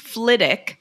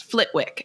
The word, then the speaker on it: Flitwick: the same way as Flitwick but it is pronounced Fick and so I'm so shocked that they that he reads the book and says Flitwick and not ftic because I'm like that has